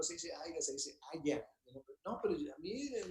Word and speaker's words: haya: Y les digo, no, no se dice haya, se dice, espero que haya mucha comida.